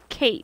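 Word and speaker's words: Cait: right no they it's it's spelled it's spelled like that and it's it's Kate that's how you say it she's lovely and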